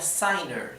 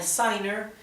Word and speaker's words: sinner: luego de otra vocal esto se pronunciaría signer signer en vez de pronunciarse sener sería siner y cambia entonces la fonética